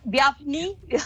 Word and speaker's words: Bjarni: rock yeah thank you is that the correct pronunciation of your name via biafny yeah sure it's close enough it's kind of throws people who don't speak iceland icelandic very much off so i'm pretty much happy with anything okay but you know